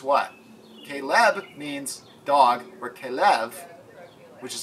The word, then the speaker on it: Caleb: name from Caleb okay left to Caleb because Kalev means what Caleb means dog where Kalev which is how it's pronounced means full hearted fully devoted or faithful